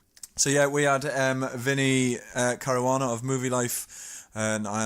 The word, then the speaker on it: Caruana: fini Cara Juana hello Vinny hello that's the correct pronunciation I love very rare how are you